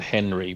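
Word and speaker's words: HNRY: I think they pronounce it Henry without the E.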